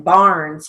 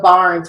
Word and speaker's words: Barnes: Again, Barnes, you may hear a Z or a final S. It depends on what you hear. You're definitely going to flag it. So Barnes would be B-A with